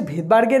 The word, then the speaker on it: Svedberg: হচ্ছে ভেদবার্গের একক, বিজ্ঞানী ভেদবার্গ আবিষ্কার করেছিলেন। ভেদবার্গের নামটা শুরু হয় মানে নামের স্পেলিংটা হচ্ছে SVEDBERG, যেহেতু ফার্স্ট লেটার এস সেই অনুযায়ী এসটা এবার উচ্চারণের ক্ষেত্রে যখনই আমি প্রোনাউন্সিয়েশন করি তখন এসটা সাইলেন্ট থাকে, তাই উচ্চারণের ক্ষেত্রে আমরা